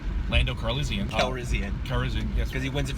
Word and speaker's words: Calrissian: We know we're going to see, I always get his name wrong, Lando Calrissian. Calrissian, yes.